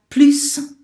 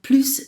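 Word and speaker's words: plus: me say you have please - Uncle Louie I pronounced the s in there - a please - John Couey that's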